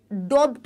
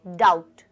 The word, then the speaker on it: doubt: ओ यू बी टी तो इसको आप डॉप्ट नहीं पढ़ेंगे बहुत से बच्चे डोट पढ़ते हैं यहां पर जो बी होता है वो क्या होता है साइलेंट होता है बी जो होगा यहां पर वो साइलेंट होगा आप इसे क्या पढ़ेंगे क्या बोलेंगे डाउट डाउट आप इसे बोलेंगे डाउट मतलब कोई भी शक